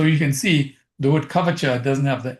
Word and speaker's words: Kavacha: So you can see the word kvacha doesn't have the h after the c because in Sanskrit when they have a c it pronounces as cha like ch like that but when you spell